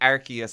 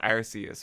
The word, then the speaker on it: Arceus: Seismitoad isn't it look I say art like archaeus is Arceus right like I'm Irish British